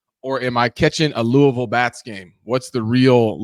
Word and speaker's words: Louisville: All right, some fun things here for our Louisville native.